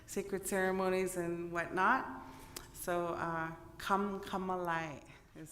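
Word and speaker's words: K'emk'emeláy: So, Kamalai is how you pronounce it, the place of many maple trees.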